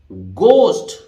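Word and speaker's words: ghost: हैं आप इसी तरह गोस्ट ठीक है अब यहां एच साइलेंट है जी का हार्ड प्रोनाउंस हो रहा है भूत को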